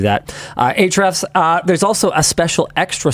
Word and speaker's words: Ahrefs: Ahrefs, excuse me, I pronounced that wrong. I always do that. Ahrefs, there's also a special extra sponsor today.